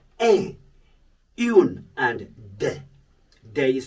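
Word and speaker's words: des: The elementary level, we have words like un, une, and de. De is spelled D-E-S.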